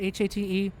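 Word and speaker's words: Haight: i g ht not h-a-t-e it's pronounced hate not height still bothers me to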